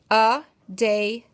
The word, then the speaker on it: Adelies: Adelies.